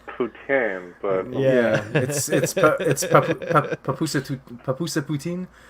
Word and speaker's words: poutine: Just, I think that's pronounced poutine, but Yeah. Papusa poutine. How do we say it? Oh, you got poutine.